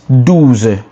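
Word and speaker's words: douze: 12 is dooz dooz dooz dooz which is d o u z e right d o u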